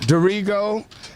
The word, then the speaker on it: Darrigo: today we have with us in private pronounce there is a dorrigo yeah dorrigo and michael bell and these guys are like